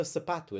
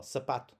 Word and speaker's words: sapato: So as you practice your sounds, it happens in the sapatu as well. Sapato. I'm not going sap. Sap. You can hear the sap. That's the unstressed O when we get to that one.